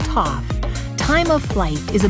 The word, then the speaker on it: TOF: Abbreviated as TOF, pronounced TOF, time of flight is a method of measuring distance to objects based on the flight time of light.